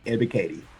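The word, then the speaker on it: Ebiketie: And only Falcon fan can know how to pronounce that name. Arnold Ebikati.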